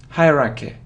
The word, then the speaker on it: hierarchy: rocky Haraka Haraka Haraka so you see that the main stress is on the first syllable hurricane hierarchy hierarchy hierarchy but it